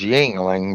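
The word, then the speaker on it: Yuengling: you like that jingling how do you pronounce that Yingling is that right yes Yingling but I think those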